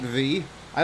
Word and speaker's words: Vi: brought pleasant surprises to my day that's great v i don't know why you didn't tell us your name's actually pronounced vi this whole time no i'm just